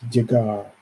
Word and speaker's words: llegar: In the Spanish, when there are, it's almost like a ja, ja. It's a heavy. It's llegar or llegar.